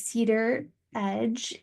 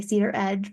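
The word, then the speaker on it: Cedaredge: the first one is Cedar Edge I always say it wrong because I'm from Atlanta originally I say Cedar Edge but it's Cedar Ed I've learned or something closer to that um Cedar Edge is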